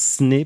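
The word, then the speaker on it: Snö: On va aller faire un tour dans le Grand Nord pour une série qui s'appelle Snow, qui ça se prononce Sne, paraît-il, en suédois, m'a expliqué l'homme d'Étienne.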